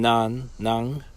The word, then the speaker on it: nan: Always remember that the end when you see an N at the end of a word in Papiamento, that it means that you say it like the NG in sing.